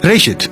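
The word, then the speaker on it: רֵאשִׁית: Gênesis vem de uma palavra hebraica, que é pronunciada Reshit, e significa simplesmente início.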